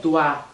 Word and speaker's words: doigt: falar bem aberto, lé, doigt, lé. Então pode ser lê, lé, lê, né? Dá uma variada. Doigt, doigt. Tudo isso para falar doigt. Não fala G, não fala T, não fala S.